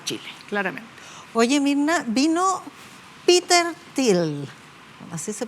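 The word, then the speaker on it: Peter Thiel: Oye, Mirna, vino Peter Til, así se pronuncia, ¿no?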